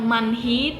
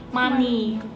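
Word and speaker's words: 많이: diakhir kata itu mati jadi bacanya bukan manhi tapi money ada haknya tapi kayak enggak di bunyiin ada tapi tak dianggep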